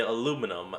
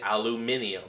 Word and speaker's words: aluminum: Yes, we Americans say aluminum. We don't say aluminium, or however the Brits actually say it.